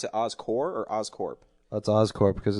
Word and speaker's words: Oscorp: Would you pronounce it Oscorp or Oscorp? That's Oscorp because it's short because it's a short for corporation.